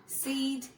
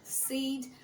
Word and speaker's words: said: বলেছে, আমি বলেছি, হি said, they said, বাট এটা আসলে said না, the actual pronunciation is said.